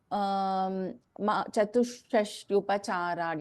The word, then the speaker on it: चतुष्षष्ट्युपचाराढ्या: the pronunciation rules aspect, after Visarga, if there is Sha or Za, we do not chant the Visarga here. So we combine and chant. So it is like Chatushashtyupacharadhya.